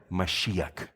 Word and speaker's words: Mashiach: Ese nombre Cristo, el ungido, ¿sabes cómo se dice en hebreo? Mashiach.